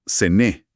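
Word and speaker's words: Zena: En el dialecto de esa región, el ligur, la ciudad no se pronuncia Génova, como en el italiano estándar, sino Sené, con una c vibrante, casi como una sh.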